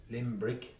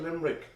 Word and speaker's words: Limbrick: rods that's anything yeah how do you pronounce it limbrick i think it is not limerick oh no a limb and was there anything at